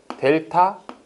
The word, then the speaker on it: 델타: 델타 x. 이 델타가 변화량이란 뜻이야. 삼각형이라고 그려놓고 읽기는 델타라고 읽고 뜻은 변화량이라는 뜻이에요.